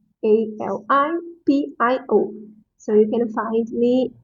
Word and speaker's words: Alipio: This, I know that is a little bit hard to pronounce. So my last name, Alipio. Alipio. Alipio.